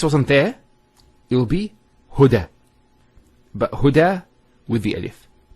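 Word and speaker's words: هدى: Now this is not actually a ya, it's an alif. It's called an alif maqsura, and it's exactly like an alif, the way it's pronounced. It's like a ya, without the 2 dots. So we say huda.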